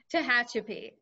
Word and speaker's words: Tehachapi: of the layout that includes the um might mispronounce this how that shoppie loop will be finished tehachapi i know it's it's strange i i had